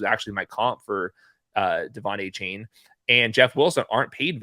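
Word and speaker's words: Achane: I'm sure I don't even know how to pronounce his name. Is that A-Chain? I've heard A-Chain. They pronounce it a different ways. The official guide says A-Chain.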